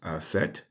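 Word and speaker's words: Aset: which the man's seat sits it is uh pronounced asset and on the head of the the next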